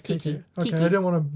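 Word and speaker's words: Keke: I thought yeah, it was it's Kiki. Okay, Kiki. I didn't want to mispronounce it, but that's what I do.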